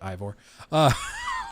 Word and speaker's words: Eivor: guys want to make fun of me for pronouncing it as Ivor, where he was drunk.